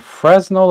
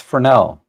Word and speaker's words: Fresnel: chat jumps way up is it fresnel or Fel it's Fel the uh the S is silent Nikon p1000 oh um